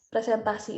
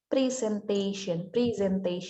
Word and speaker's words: presentation: Jadi cara how to pronounce presentasi in English is presentation. Ada Z ya, presentation.